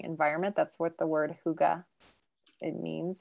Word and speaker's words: Hygge: like it's very hard to pronounce but it's pronounced hygge and it is a blend that everybody who's